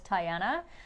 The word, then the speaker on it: Tiana: Her name is Tiana. Spelled like Tiana, but pronounced like Diana with a T.